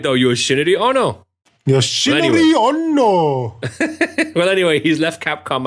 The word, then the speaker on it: Yoshinori Ono: Yoshinori Ono, is that right? Yoshinori. Fuck, without the Japanese accent. Yoshinori Ono. No, I said it right, though. Yoshinori Ono. Yoshinori Ono.